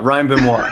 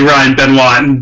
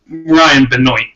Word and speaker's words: Benoit: to say it yeah Ryan boo muah yeah right if you go introduce yourself to some ladies you want to be Ryan been one definitely not Ryan Binoy i'm mr.